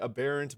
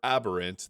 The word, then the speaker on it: aberrant: Now the Aberrant Mind, or Aberrant, there's two pronunciations for it, fits perfectly within